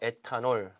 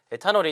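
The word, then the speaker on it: ethanol: 연료를 만들자 예를 들어 애타 널 자 에탄올이 이제 여러분이 단어 뜻을 알고 있지만 이 트 너 발음을 잘 하셔야 되 조이스 너 이어갑니다 있어 너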